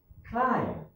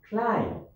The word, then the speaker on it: climb: number two we have climb climb so the b is silent okay number three we